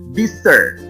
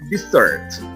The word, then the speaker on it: dessert: For example, we have the first is desert. Que nos estamos refiriendo al desierto. What about, for example, here? The pronunciation is dessert. Can you identify the difference there?